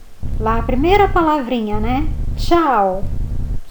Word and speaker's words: ciao: Ciao, come va? Io Ciao, piacere. Io mi chiamo. Aí você fala o seu nome. Então lembrando que lá a primeira palavrinha, né? Ciao, som de ti.